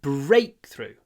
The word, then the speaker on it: breakthrough: so is a breakthrough remember when words consist of two words compound nouns the stress is on the first one breakthrough breakthrough so when you